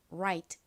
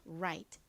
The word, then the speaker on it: right: 주시면 완성입니다 발음해 볼까요 right right 좋습니다 한국식으로는 라이트라고 쓰지만 실제 발음은 라가 아니라 와 같이 발음이 난다고 말씀드렸죠 right right 이렇게요 자 같이